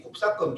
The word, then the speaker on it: 곱사건: 그래가지고 이건 A 교집합 B라고 원칙적으로는 읽으면 안 되고 A 곱사건 B라고 읽어야 되는데 또는 A 곱 B라고 읽어요.